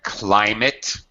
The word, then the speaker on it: climate: Climate. It's a long I sound.